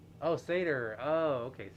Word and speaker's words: satyr: It is Satyr like the goat, the Greek creature, the half goat, half human. Oh, yeah. It is pronounced Satyr. Oh, Satyr. Oh, okay, Satyr.